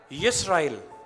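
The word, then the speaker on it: ישראל: वैसे जो सही जो मीनिंग है या सही जो प्रोनाउंसिएशन है, यदि हम हिब्रू में बोलेंगे तो क्या आएगा? यिस्राएल।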